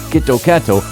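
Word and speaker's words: キットカット: words and their pronunciation the phrase kitokato sounds similar to kitokatsu which means good luck or definitely win this Association has led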